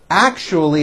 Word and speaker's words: actually: with my co-workers actually it's not actually with a C H it's act with an sh sound act actually I left you a